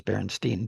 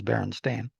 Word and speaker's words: Berenstain: I always thought it was Berenstein too. So am I pronouncing it wrong, or the spelling, that Berenstein spelling is the way I thought it was pronounced, but it looks like it's Berenstain. It's likely due to the